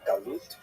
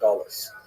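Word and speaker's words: גלות: a neutral connotation but the word exile in Hebrew galut or in ashkanaz pronunciation gullis.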